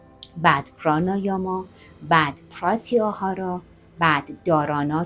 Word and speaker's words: dharana: پراانایاما بعد پراتیاهارا بعد دارانا که حالا دهارانا هم تلفظ میشه و بعد دیانا که